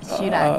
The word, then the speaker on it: 棲蘭: Of Chilan Forest, is that how we Macau, pronounce it? Chilan, yeah, Chilan, Macau.